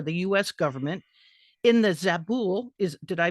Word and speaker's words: Zabul: civilian representative for the U.S government in the zabul is did I pronounce that correctly correct yeah province so that's